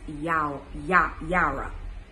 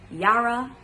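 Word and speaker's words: יראה: So when we take this from a Hebrew aspect, fear in Hebrew, it means yara. Don't want to butcher these words at all. Bear with me. Yara. It's Y-A-H-R-A-H. Yara.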